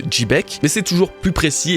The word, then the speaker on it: Xebec: Ensuite, en japonais, Rox dit Xebec, donc se prononce Chibeku. Et dans l'épisode 958, en VF, Sengoku prononce également le prénom de Rox avec un J, ce qui donne quelque chose comme Jibek. Et Rox dit Chebek. Donc oui, vous avez raison, je le prononce peut-être pas très bien en l'appelant Chebek, c'est plus Jibek, mais c'est toujours plus